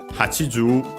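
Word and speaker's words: 八十: Then we have hachiju n. We studied that kanji next time. Then yeah, we have the number 80 on its own accent on the ju, like Lucky Rokuju. Hachiju 80.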